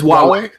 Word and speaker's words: Huawei: It's Huawei.